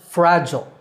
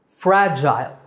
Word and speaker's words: fragile: American English it's pronounced fragile fragile fragile in British English the second syllable is Jail fragile so American fragile and